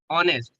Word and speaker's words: honest: So we pronounce it as honest, not honest. It's honest.